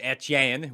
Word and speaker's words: Etienne: about driving drafting travis etienne which i still pronounce with a french accent by the way as it should be pronounced because he's from louisiana so that would only